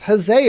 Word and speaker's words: huzzah: It was pronounced huzzah originally and is the predecessor to hooray.